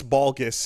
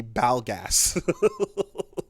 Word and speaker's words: Balgas: that's where you're like no no no english speakers it's supposed to be balgas you know yeah that's an